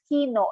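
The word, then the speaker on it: きのう: You have to pronounce no of kino a little bit longer because there's another vowel attached to no.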